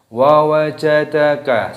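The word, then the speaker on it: ووجدك: Nah, di sini perhatikan semuanya pendek. Wa wajadaka semuanya pendek. pendek, jangan dipanjangkan.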